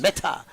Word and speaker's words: Mehta: And is it Mehta? M-E-H-T-A? Wait, let me hit. Metaverse, like the metaverse. Meta.